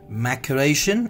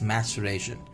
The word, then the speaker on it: maceration: is maceration it's not maturation it's maturation let me just write it down m a sure then reaction clear this is the pronunciation of this maceration is not maturation it's maceration clear what it mean